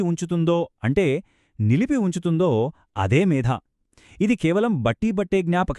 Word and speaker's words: మేధా: మేధా అని పలకాలి. పొరపాటున ఒత్తు లేకుండా మేధా అని పలికామ అనుకోండి దానికి అర్థం శరీరంలో ఉండే కొవ్వు అని మారిపోతుంది.